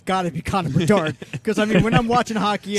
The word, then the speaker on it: Bedard: All right, I got one thing on Connor Bedard. Can I get a second? I got to phone a friend. His last name rhymes with hard.